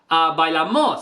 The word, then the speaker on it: Bailamos: But when he sings it, he says, bailamos. So he goes, bailamos, right? So it's O, the stress is on the O.